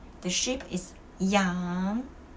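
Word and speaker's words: 羊: The sheep is yang. Well, without the G and with the G, the pronunciation change a lot.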